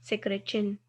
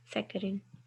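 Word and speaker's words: saccharin: उनकी एग्जांपल में आपके पास एक कंपाउंड है सेक्रेचिन, सेकेरिन, सेकेरिन, sorry for wrong pronunciation, सेकेरिन, that is सेकेरिन, जो कि पहले आपको इनिशियली स्वीट लगती है, उन बाद में बाइटर हो जाती है।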